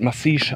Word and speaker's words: Massiges: der Anhöhe von massig das wird massiges geschrieben wird massis ausgesprochen und hier war vor